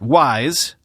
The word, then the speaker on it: WSE: engine or wse although they want you to pronounce that wise for the purposes of future marketing wise is 57 times